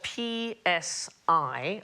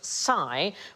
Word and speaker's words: psi: So, for example, the letter PSI, all right, that is the single letter there, and we pronounce it psi, but in Greek, that sound is more like the PS that we have in laps.